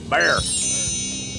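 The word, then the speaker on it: Bexar: of the county and the appropriate pronunciation is bear bear county I don't know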